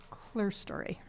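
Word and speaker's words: clerestory: And the And the clear story.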